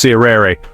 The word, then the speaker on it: tirere: These stick dances, or tirere, pronounced sirere, are only performed during major ceremonies, and every single movement has meaning passed down through generations.